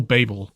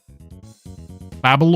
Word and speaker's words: Babel: Is it Babel or Babel? I like to say Babel because it doesn't sound as stupid as Babel.